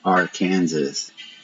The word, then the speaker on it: Arkansas: kind of funny cuz it looks like AR Kansas but it's pronounced Arkansas like with a w